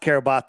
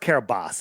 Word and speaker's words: Kiribati: It's pronounced Kiribati. It's pronounced Kiribati.